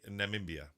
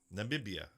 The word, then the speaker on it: Namibia: I could not say Namimia. Am I saying it right now? Holy Am I screwing it up? Namimia. I always want to throw me. Namibia. I want to throw an extra B in there. Namibia.